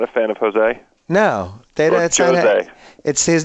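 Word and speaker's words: José: Jose. His name is Jose or something. He sounds like a cologne. You pronounce the J on it.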